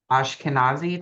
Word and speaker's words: Ashkenazi: Ashkenaz Ashkenazi, did I say that right?